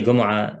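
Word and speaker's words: Gomaa: and ali gomorrah it's pronounced gumrah very often because he's an egyptian and the the egyptians pronounced the gene in that way and um are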